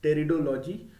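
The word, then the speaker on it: pteridology: into the category of territo fights here p is silent here so the study of fonts is called teredology so this is completely true here fonts reproduce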